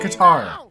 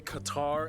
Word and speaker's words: Qatar: with the country guitar I'm just gonna say guitar hey everybody I'm your host barbs full disclosure it's actually fully acceptable to say Qatar as well okay I